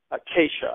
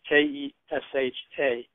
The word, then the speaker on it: Kesha: There's a pop music girl named Keisha. I don't know if I'm pronouncing it right. It's Kesha.